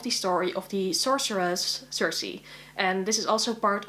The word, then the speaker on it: Circe: be the year where I read Circe, or Circe as I was taught to pronounce it at school back in the day, but yeah, let's just call it Circe to make it more easy, I guess.